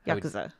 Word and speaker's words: Yakuza: No extra accent on the ku. Yeah, Yakuza.